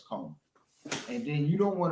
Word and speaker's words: Comer: Yeah, it's Comer.